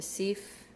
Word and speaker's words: Seife: When you look at the Seife or the Seife, S-E-I, in German, I before E is E, and E before I is I. Essentially, you're pronouncing the second letter in that pair.